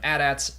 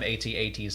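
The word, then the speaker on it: AT-AT: empire at war in general veers calls them adats not oh calls them atats not ads so i guess that settles it whatever you want to pronounce it i don't mind i feel like they pronounce it both ways in in canon content too they've over the years has been pronounced both ways so yeah is what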